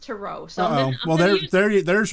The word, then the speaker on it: tarot: tarot cards okay so tarot that it's really pronounced to row so well there you there's your first clue that i know just enough to be in trouble okay it's totally okay i love to say tarot cards too because like that's just the way